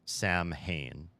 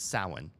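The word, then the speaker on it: Samhain: pronounce the the Gaelic word for Halloween is Sam Hayne it's spelled s a m h a i n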